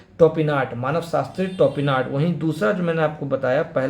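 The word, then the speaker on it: Topinard: टोपिनार्ड ये जो मैंने आपको बताया ऊपर, इसका एग्जैक्टली जो प्रोनाउंसिएशन होगा ये आपको होगा टोपिनार्ड, मानव शास्त्री टोपिनार्ड।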